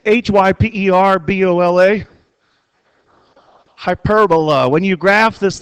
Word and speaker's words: hyperbola: see if you can figure out how to pronounce it it's h y p e r b o l a hyperbola when you graph this thing it's going